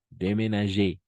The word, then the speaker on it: déménager: Pas déménage, déménager. Entonces, cada vez que estén acentuadas las E, vamos a pronunciar como una E normal.